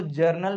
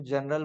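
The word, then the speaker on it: journal: और प्लीज इसको जर्नल pronounce करना है। बहुत लोग इसको जनरल बोल देते हैं। ठीक है? ऐसा नहीं है।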